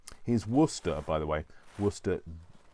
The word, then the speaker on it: Worcester: been wusted so here's worcester by the way worcester w double o s t e r not as in the um city of worcester although um worster is usually how it's pronounced by people who